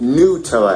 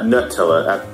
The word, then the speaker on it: Nutella: It's pronounced Nutella after all, not Nutella.